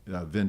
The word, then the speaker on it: Vine: I like a guy named Vin Deloria, or Vine Deloria, depends on how you pronounce his name, and who was at the University of Colorado.